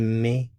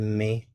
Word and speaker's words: met: Il met, elle met, on met. So, we have met, met, met. All pronounced the same.